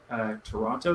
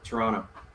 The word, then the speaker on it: Toronto: I like it when Americans say Toronto. It's always Toronto. It's they emphasize heavy on the O's. Toronto. It's like it's spelled. It's like in Canada we say Toronto. Toronto, like with an A.